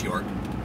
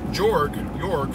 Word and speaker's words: Jorg: Jorg is like this, well, I pronounce Jorg.